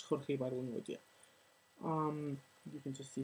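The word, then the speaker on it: Jorge Ibargüengoitia: I have no idea how to pronounce his name in English, so I'm just going to say it as I know it in Spanish. Jorge Bargongoitia.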